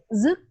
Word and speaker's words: dứt: Dứt, not đứt. Dứt. Zut. Oh, zut. Yes, dứt khoát. Quat. Ah, zut quat. Yes, because the letter D we pronounce D in English, but it is pronounced Z.